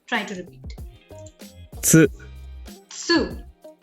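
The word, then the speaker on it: つ: Now you have to actually take care that it's not ti, it's chi, and this one not su, not tu, but su. So this is what I mean. It's tsu, su.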